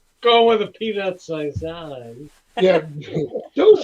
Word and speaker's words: saison: No, you can't say it properly. It's got to be saison.